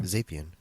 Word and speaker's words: Zapien: Zapien. I wanted to hear him say it because I'm positive I've always said it wrong. Zapien.